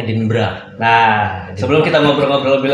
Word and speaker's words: Edinburgh: bisa Show di edinburg ngomong tulisnya edinburg tapi ngembacanya edinburra nah sebelum kita ngobrol-ngobrol